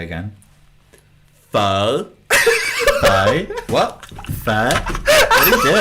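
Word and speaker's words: phở: You want to know the real accent of pho? Go on. Pho. Say again. Pho. Pho.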